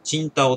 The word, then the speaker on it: 青島: 青島ビール、かっこチンタオって読みますね。